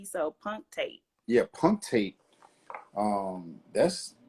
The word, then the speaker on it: punctate: Well, I don't know if I'm saying it right, but it's spelled P-U-N-C-T-A-T-E, so punctate.